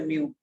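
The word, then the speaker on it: μ: म्यू बोलते हैं ऐसे, म्यू।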